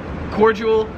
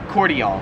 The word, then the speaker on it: cordial: So yeah, in America we pronounce it cordial, whereas here in Australia it's pronounced cordial.